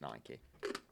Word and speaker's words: Nike: like that came out and said it's actually pronounced Nike they really yeah from being in the industry